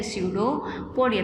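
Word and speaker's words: pseudopodia: Organ क्या रहता है, स्यूडोपोडिया, पी इसमें साइलेंट रहता है।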